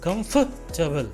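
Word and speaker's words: comfortable: भी वेजिटेबल की तरह इसको बोलेंगे कंफर्टेबल कंफर्टेबल सॉफ्ट बोलते पर आपके मुंह से हवा बारीक बाहर आनी चाहिए कंप्यूटर बल कंफर्टेबल और इसमें आर साइलेंट रहेगा एक बार मेरे साथ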